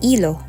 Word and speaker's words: hilo: It has the same spelling in Spanish, however, letter H in Spanish is always silent, so they pronounce it as hilo.